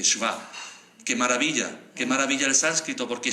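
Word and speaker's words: शव: Pero es más maravilloso cuando le quitamos la I, y en sánscrito Shiva sin I se pronunciará Shva, se dice Shva.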